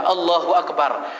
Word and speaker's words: Allahu Akbar: it takbir sunnahnya itu takdir diucapkan biasa saja allahuakbar jangan allahuakbar terlalu panjang jangan jadi sunnahnya takbir itu jazam dipendekkan saja allahuakbar begitu pula dengan salam